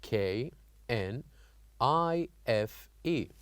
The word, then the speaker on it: knife: k n we have k n i f e knife so here here we wrote the letter K but we don't say it we don't pronounce it we only keep it